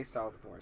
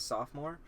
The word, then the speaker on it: sophomore: Garten J it's German okay so people say Southmore still Southmore yeah instead of sophomore oh what did they say Southmore sou actually